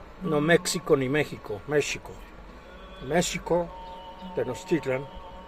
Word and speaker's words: Tenochtitlan: México ni México, México, Tenochtitlan, no Tenochtitlán, como dicen muchos pendejos, México, Tenochtitlan, dicen que no era un país.